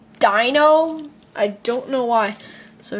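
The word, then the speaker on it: Deino: be sharp neat more as wellas and it's pronounced Dino I don't know why so Shelmet vanillite paner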